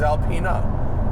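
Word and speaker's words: Alpina: if I think a-l-p-i-n-a the German BMW tuner is Alpena and I think the French Alpine a-l-p-i-n-e I mean I'm if I'm wrong I'm wrong but I'm I'm pretty sure it's Alpine a pronunciation check yeah I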